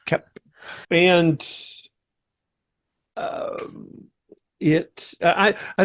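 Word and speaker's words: Koepp: to pronounce his name I for most of my years have said cope but it is kep and um it I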